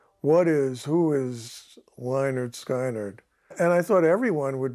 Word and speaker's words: Lynyrd Skynyrd: know they introduced them I said oh it's Leonard Skynyrd I see I get it I said what